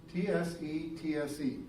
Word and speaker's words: tsetse: Notice it's T-S-E-T-S-E, tsetse. I try to pronounce the T and the S at the same time.